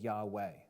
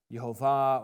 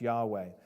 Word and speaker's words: Yahweh: Scholars they say that the ancient VAV that's uh this letter right here is pronounced like a w sound so instead of saying yve they say Yahweh okay I don't have